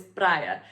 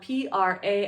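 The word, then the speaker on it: praia: details of the beaches the word for beach in Portugal is pra it kind of sounds like paa in Spanish but it's spelled p r a i a pra so anytime you see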